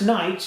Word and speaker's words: knight: some reason we saw the KO front it's pronounced Knights you don't pronounce the collector like a pan